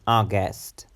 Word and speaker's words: August: August August our guests the stress the emphasis is on the first on the first sound our our our guests our guests our guests we will have a meeting in August our guest appeared for